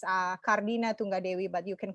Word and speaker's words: Tunggadewi: You can call me, my full name is actually a little bit hard to pronounce. It's Kardina Tunggadewi, but you can call me Tunggadewi or just.